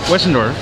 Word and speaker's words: Westendorf: these things are awesome I'm here with David wendor that's right all right see I got it right yeah right good pronunciation what can you tell us what am